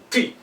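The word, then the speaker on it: ты: Now, the word ty, meaning you. Imagine you pronounce the word tea with a mouthful of food, and this is what you get as an outcome.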